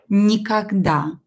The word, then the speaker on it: никогда: One more word that I didn't mention is никогда. Никогда. What is никогда? I think you know this word, right? Никогда. It's a very common word. Давайте напишем. Никогда. Никогда. Ударение на букву А.